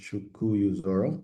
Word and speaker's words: Chuku Zoro: It's pronounced Chuku Zoro. Make it a bit easier. Okay.